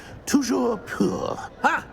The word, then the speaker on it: toujours pur: I order you to pronounce it for me. Oh, but Master knows that Scrope's French is most pitiful. Toujours pur.